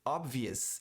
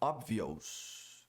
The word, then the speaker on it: obvious: Ou a palavra óbvio, obvious e não obvious.